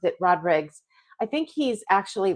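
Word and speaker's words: Rodrigues: It's like Rodriguez, but instead of the Z at the end, it's got an S, and he pronounces it Rodriguez.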